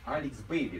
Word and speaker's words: Alex Bailey: Алекс Бейли, да? It's pronounced like this.